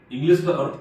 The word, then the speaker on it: Artha: अर्था fintech अंग्रेजी में उच्चारण बहुधाम करते हैं, लेकिन वास्तविक शब्द अर्थ फिनटेक।